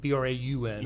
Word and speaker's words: Braun: It's not spelled Braun, it's pronounced Braun. So, like B R A U N.